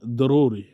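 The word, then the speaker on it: ضروري: জরুরি আমরা বলে থাকি জরুরি, তারা বলে দরুরি। তারা জকে দয়ের মতো উচ্চারণ করে বলে, আমরা বগিয়ার জগ মতো উচ্চারণ করে বলি ওয়া।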